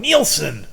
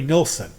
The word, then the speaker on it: Nilsson: says his name right everybody calls him Neilon it's like it's not his name can't you read it's Nelson what's wrong with you and like doll Madam do Madam and he's on the radio going neelson like dude and the reason that people call him neelsen is because everyone calls him that no one has ever heard anyone say Harry nilson but it's right there it's